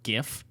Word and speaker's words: GIF: name at cal underscore gif and it is gif okay it's jif but okay the question is you know there's an old english pronunciation of it called gif i think that one's the worst you just i had